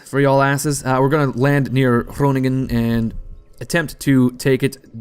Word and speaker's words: Groningen: the way over to, I suppose it's pronounced Groningen. That's Dutch for y'all asses. We're gonna land near Groningen and attempt to take it.